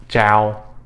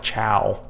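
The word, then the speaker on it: chào: hello or hi c-h-a-o it's pronounced with a j sound all right so again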